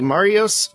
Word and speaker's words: Marios: everything is so okay so is it it's Mario's is how it's pronounced Marios yeah like like Mario with